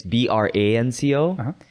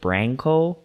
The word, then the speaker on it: Branco: people always ask about like because like it's b-r-a-n-c-o and so actually my parents pronounce it branco but it's actually because i'm a spanish speaker